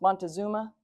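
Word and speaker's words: Montezuma: So the um Tinach Titlan was at the time of the Spanish being ruled by Montazoo. So used to be pronounced Montazuma.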